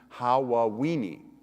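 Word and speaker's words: Hawaweeny: aw ee NY which if you say it too fast it sounds like Halloween has actually his last name is how well we need is his last name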